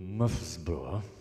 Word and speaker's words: Murfreesboro: It's a delight to be back in North Carolina, having spent 9 great years up in Murfreesboro. They pronounce it Muffsboro.